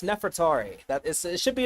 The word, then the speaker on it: Nefertari: And I've seen different people try to pronounce her name and and it's like everyone seems to be getting it wrong. I have no idea why, but it's Nefertari.